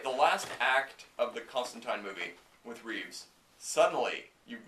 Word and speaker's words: Constantine: show Americanized his name the character's name is Constantine as very clearly stated many many times for the characters history the pronunciation is clear in America people don't understand